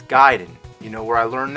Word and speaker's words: Gaiden: gaiden everyone always said ninja gaiden but I know for a fact it's guiding you know where I